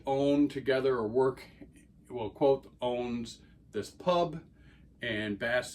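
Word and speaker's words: Kvothe: untrustworthy narrative from quo pronounce his name quo it's spelled KV o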